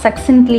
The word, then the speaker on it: succinctly: இது எப்படி ப்ரொனவுன்ஸ் பண்ணுறதுனா சக்சின்ட்லி அப்படின்னு சொல்லலாம், சிக்சின்ட்லி அப்படின்னு சொல்லலாம். ஸோ இது எப்படின்னா டிஸ்கிரைப் பண்ணுது, நம்ம என்ன நடக்க போகுதுன்னு நான் டிஸ்கிரைப் பண்ண போகிறேன் அப்படிங்கிற மாதிரி சொல்கிறாங்க.